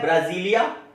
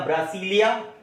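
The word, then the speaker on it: Brasília: Capital है ब्राजीलिया या ब्रासीलिया। English और हिंदी का प्रोनाउंसिएशन थोड़ा डिफर कर जाता है। ब्राजीलिया को देखोगे तो ब्रासीलिया भी रीड आउट किया जाता है, उसमें कोई आप घबराने वाली बात नहीं है।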